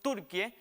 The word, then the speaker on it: Türkiye: tendrá en cuenta que el topónimo Turquie, que se debe pronunciar así como escuchó, Turquie, encontrará lo siguiente, ahí lo vemos en la gráfica.